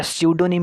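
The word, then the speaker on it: pseudonym: है चौथा दोस्तों हमारा है पडो निम पडो निम ठीक है या सूडो निम भी बोल देते हैं क्योंकि पी यहां पर क्या रहता है एक प्रकार से साइलेंट भी रहता है तो चाहे प सूडो निम बोल दो चाहे सूडो निम बोल दो ठीक है हमें प्रोनंसिएशन से कोई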